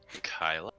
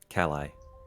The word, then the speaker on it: Kali: our two new companions, Maria and Kyla. Kali. Kali. Excuse me. Kali, yes. I had the syllables right, just in the wrong place.